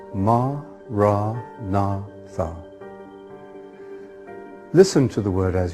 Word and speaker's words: Maranatha: you choose that word say it has four syllables ma nah thoug listen to the word